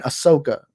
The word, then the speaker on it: Ahsoka: and ashoka do have wait why am i saying ashoka i'm in ahsoka i'm sorry i didn't mean to say that i tend to be very terrible at pronunciations so i'm sorry about that but ahsoka a so